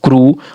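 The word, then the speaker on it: crew: ई डब्ल्यू फ्लू और सी आर ई डब्ल्यू क्रू और सी एच ई डब्ल्यू चू और एस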